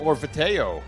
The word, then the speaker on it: Orvieto: Orvieto. That- Is it in France? Is it in Italy? Yes. That's be like an Orvieto. Where's an A? T-E-O is Teo in Italian. That's how they pronounce that. Orvieto.